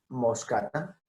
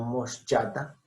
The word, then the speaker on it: moschata: Bueno, C con H, siempre sonido de K. Siempre sonido de K. Calíbura. En este caso, Buffoni. Cairina moscata. No moschata.